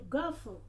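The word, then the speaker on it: guffaw: If you say to gaffle, G-U-F-F-A-W, gaff. Then the W should be silent a bit. Don't pronounce it all.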